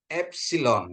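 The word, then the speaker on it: έψιλον: Terus ada epsil ya epsilon ya. Ini penekanannya di atas epsil epsil ya.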